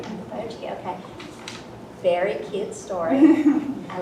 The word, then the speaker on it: Okoboji: So she's the author of the romantic fantasy novella, A Neapolitan Fairy Tale at Lake Okoboji. Did I say it right? That's right. Okoboji, okay.